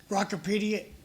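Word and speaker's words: Grokipedia: So when you're talking about this, I would suggest you spell it because when you say gracipedia, the G doesn't sound like it's there.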